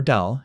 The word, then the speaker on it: del: The symbol is the upside down triangle pronounced nabla or dell depending on which generation taught you.